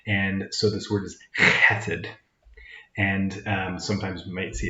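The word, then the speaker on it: חֶסֶד: sort of letter and so this word is cated and sometimes we might see it just a hesed or maybe it's spelled in english with a ch like um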